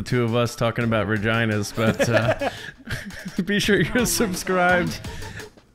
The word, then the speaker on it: Regina: Are you sure it's not Regina? No, it's Regina. There's a reason Regina rhymes with fun. It's in the Deadpool movie.